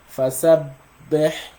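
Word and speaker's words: فسبح: You cannot pronounce the shadda unless you assume you're pronouncing 2 bas, one with a sukun and the other one with a fatha. Right? So you're gonna say fasabbih bihamdi rabbika wastaghfir.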